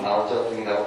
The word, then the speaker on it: 마오쩌둥: 그 다음에 여러분들이 오택동을 마오쩌둥이라고 발음을 하면 중국 애들이 놀랄 겁니다.